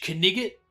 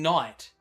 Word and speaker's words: knight: go, "You silly English kigot." And a lot of people miss it. He's saying night, but he's pronouncing it wrong.